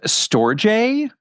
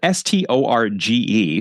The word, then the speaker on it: storge: That word is storge, spelled S-T-O-R-G-E, so it looks like storge, but I'm told it's pronounced storge, and it means familial love.